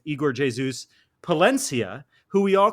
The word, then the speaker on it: Igor Jesus: Igor Jesus, which we've been saying, it's Igor Jesus. Palencia, who we all call Sergi Palencia, pronounced his name Sergi Palentia, which is a